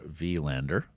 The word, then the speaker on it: Willander: Tom has asked for Willander. So the European pronunciation there.